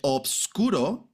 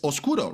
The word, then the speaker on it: obscuro: They omitted the FB sorry the B, right? So most likely they omitted it because it was like a it was a little bit more difficult for people to to pronounce the obscuro because in the end basically you like deleted the B when you were like linking sounds. And now everybody says oscuro, right? Which is like a little bit faster and easier to pronounce.